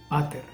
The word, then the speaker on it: pater: Por ejemplo, padre en latín se dice pater, no se dice pater, sino se pater.